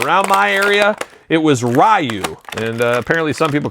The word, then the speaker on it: Ryu: Every time I pronounce it, someone says, "Well, you know it's Ryu."